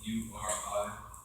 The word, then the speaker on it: Uri: I don't even know how to pronounce his names, but people that built the tabernacle, their name, first name was spelled U-R-I, son of H-U-R.